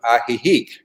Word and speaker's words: Ajijic: in the village of ajijic it's a j i j i c but the j's are pronounced like h's and the uh it's